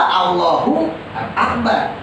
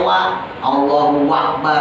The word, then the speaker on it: Allahu akbar: pernah saya terangin ya Bahkan bacanya aja engak boleh sembarangan engak boleh pakai WA Allahu akbar gak boleh karena wa itu dan ya kan per saya ya hati-hati Jadi harus jelas Allahu akbar nah lafaz Allahu Akbarnya